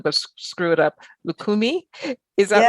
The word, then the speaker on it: Lukumi: this, and I'm going to screw it up, Lukumi.